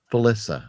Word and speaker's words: Felissa: if you were, say, 13 and you were in that camp and Felissa Rose is there and you're thinking, Alicia oh, Rose. You're saying it wrong. Felissa, sir.